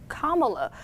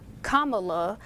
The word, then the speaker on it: Kamala: first name is pronounced kamala or as she explains in her biography kamala like the punctuation mark i've definitely heard a